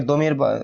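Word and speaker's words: ضمير: একটা গলত মাসর যে দকে য উচ্চারণ করা। এটা নিয়ে অনেকের সাথে অনেক ইয়া হয়েছে। বিভিন্ন জন বাড়াবাড়ি করে। তো বাড়াবাড়িটা শুনে। আপনি চাইলে জমির বলতে পারেন প্রচলিত নিয়ম হিসেবে যে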